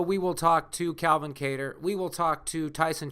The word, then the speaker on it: Kattar: How do you say your last name? I say Kattar, but however you want to say it's fine.